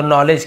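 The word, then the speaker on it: knowledge: यानी अपनी ज्ञान का तो नॉलेज के सट होता है यहां पे नॉलेज द भी सट होता नॉलेज नहीं होगा नॉलेज तो अपने ज्ञान लेकिन लिखते हैं ना लेकिन पढ़ते नहीं है के एन यदि एक साथ है ज्यादातर देखें के सट होता है जैसे नो हो गया नॉलेज हो गया नी हो गया नाइफ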